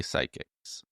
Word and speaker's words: psychic: Well, I could figure it out, but if I do speech to you know there's a silent P in the in the beginning.